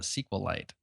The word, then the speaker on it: SQLite: want to talk about sqlite I'm gonna I'm gonna I'm gonna try my best to pronounce it that way for you um I've been I guess I've called it SQL light just because even SQL